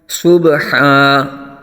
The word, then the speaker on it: صبحا: آ جائے گا۔ فالمغیرات صبحا، صبحا صاد کو پر آ جائے گا، با ساکن میں یہاں پھر قلقلہ ہوگا اور دو زبر